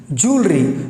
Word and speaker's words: jewelry: Jewelry. So I want guys from today onwards, whenever you are going to pronounce this word, you have to pronounce correctly.